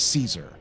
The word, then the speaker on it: Caesar: in in Latin but everyone knows him as Caesar um so that's why you IED Caesar if